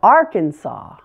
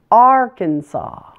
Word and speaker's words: Arkansas: with me Arizona now Arkansas the first syllable is stressed the middle a is a schwa and something big to note in this word the final S is silent the word is Arkansas Arkansas now that you've got